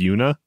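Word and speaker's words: juna: It's spelled J-U-N-A. Una.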